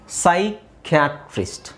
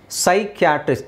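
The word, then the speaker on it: psychiatrist: ಬರೀಬೇಕು ಓಕೆ ನಾವಿಲ್ಲಿ ನೋಡಿ ಇಲ್ಲಿ ಪಿ ಸೈಲೆಂಟ್ ಆಗಿರುತ್ತೆ ಸೈಕಿಯಾಟ್ರಿಸ್ಟ್ ಸೈಕಿಯಾಟ್ರಿಸ್ಟ್ ಸೈಕ್ ಅಂದಿದ್ ತಕ್ಷಣ ಮನಸ್ಸಿಗೆ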